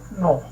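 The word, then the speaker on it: gnaw: तो इसको नो पढ़ते हैं, नो, नो, जी साइलेंट है, नो।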